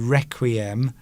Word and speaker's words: requiem: Well, you see, when I've been singing requiems in choirs, normally when you use the word requiem, you have to roll your R.